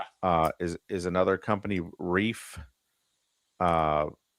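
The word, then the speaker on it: Reiff: I've been I've been in the comments which I rarely get in corrected a lot that it's reef spelled RE I FF.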